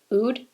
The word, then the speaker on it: oud: one so much it's called velvet rose and ood oud that's how it's pronounced right ood i'm looking on the nordstrom website right now